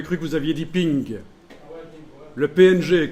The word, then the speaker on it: PNG: J'avais cru que vous aviez dit ping. Le PNG, qu'on prononce ping en anglais, oui, le PNG.